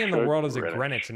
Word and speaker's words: Greenwich: Is that how you pronounce? Yes. Why in the world is it Grenwich and not Green Witch?